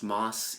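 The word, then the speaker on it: Maas: be in Jack's Beach our last name is pronounced Moss even though it's spelled m a a SS moss and then the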